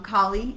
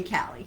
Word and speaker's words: Kali: how you want um kali is um i think the more uh indian hindu uh pronunciation and you know me having spent you know half my life in california uh i am affirmed i am prone to say callie because you know cali girl